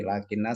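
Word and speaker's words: لٰكِنَّ: Semoga bisa dipahami untuk gharib tentang tadi lakinna sama walakinna. Nanti kalau menjumpai lafadz lakinna sama walakinna, ini cara bacanya beda. Pendek sama panjang.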